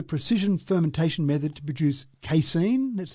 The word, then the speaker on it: casein: It uses a precision fermentation method to produce casein. That's how I pronounce it.